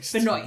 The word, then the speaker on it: Benoist: I never know how to pronounce her last name. Benoist. Melissa Benoist.